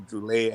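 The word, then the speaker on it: Druillet: It's Philippe Droulet, not Droulet.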